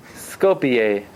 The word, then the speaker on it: Skopje: Skopje. That's how you pronounce it.